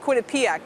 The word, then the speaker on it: Quinnipiac: Quinnipiac or is it Quinnipiac dr. it's Quinnipiac with the accent on the first syllable Quinnipiac okay I will